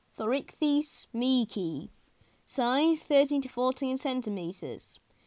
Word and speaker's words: Thorichthys meeki: Pronunciation, Thorichthys meeki.